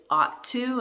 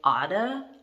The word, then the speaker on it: ought to: next one is optu we don't pronounce the g we don't pronounce the h it's ought to and in fact we don't even say ought to we say odda oda so we pronounce